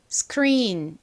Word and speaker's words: screen: S의 바로 뒤에 키 소리가 오면 좀 세게 발음나는 경향이 있어요. 그래서이 단어의 미국식 원어 발음은 screen 이렇게 c가크 소리가 나는 것이 아니라 screen스 screen 이렇게 좀 세게 발음이 됩니다.